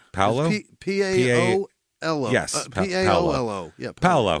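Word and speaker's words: Paolo: Yeah, Paulo.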